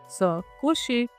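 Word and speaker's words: se coucher: तो ये again प्रोनोमिनल verb है, स कुशे।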